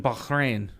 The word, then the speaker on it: Bahrain: was that place again Wayne that is in Bahrain okay oh he said it right this time